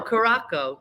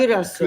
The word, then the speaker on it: Curaçao: Caraco. How do you say Caraco? Curaçao. Curaçao. What? Like the drink, Curaçao.